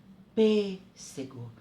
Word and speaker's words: pêssego: Pêssego. Tá vendo? Observem, eu fecho a minha boca para falar a sílaba.